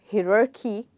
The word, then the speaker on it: hierarchy: You don't have to call it hierarchy because you might think H-I might be, you know, he, which it is not. It's actually hi. So hierarchy, hierarchy, okay.